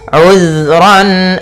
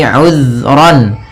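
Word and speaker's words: عُذْرًا: Kemudian ayat selanjutnya uzron. Di sini uzron. Hati-hati dalam pfalan zal. Usahakan ya usahakan di sini jangan sampai memantul jangan uzr ya tapi uzron.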